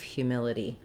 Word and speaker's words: humility: It's also like this word hue as in the color. That's another way that we spell this sound we have at the beginning of humility. And then again, we go back to our mil syllable. That's where we have the I vowel, like in hill or will or it or is.